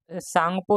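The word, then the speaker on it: Tsangpo: तो तिब्बत में इसको सांगपो नदी के नाम से जाना जाता है, ऐसी ब्रह्मपुत्र को, जैसे हम सांगपो ही कह सकते हैं या टी सांगपो कह सकते हैं, क्योंकि दोस्तों टी साइलेंट होता है इसलिए इसको सांगपो नदी कहा जाता है।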